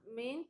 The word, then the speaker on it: meant: Siguiente, dice, there is a change in the vowel sound, meant rhymes with sent.